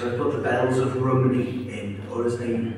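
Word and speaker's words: Rhymney: put the Bells of Rumney in, or as they say, the Bells of Rimney. And I write in the book, it's the wrong pronunciation.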